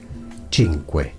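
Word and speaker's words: Cinque: And yes, the letter C in Italian by itself before a vowel is pronounced as ch. Well, that's before an E or an I, which is the case here. So, chinq.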